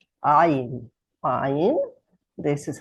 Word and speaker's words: Ayin: But I have to say, in everyday Hebrew, the Ayin will sound basically like the Aleph. So people would say Ayin, Ayin instead of Ayin. But in class, I am always trying to pronounce it correctly, so you hear the difference in the word.